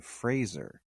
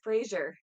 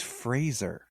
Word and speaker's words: Fraser: thing he was like my name is Brendan Fraser like Razer he's like it's always